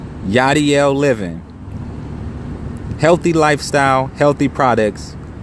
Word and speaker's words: Yachdiel: part by Yadier living that's pronounced yeah DL yah DL living healthy lifestyle healthy